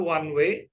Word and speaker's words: one: Ya, O di kata sifat yang pertama one way, ya, kita dengar ada bunyi konsonan W. Oleh karena itu kita harus menggunakan a one way street.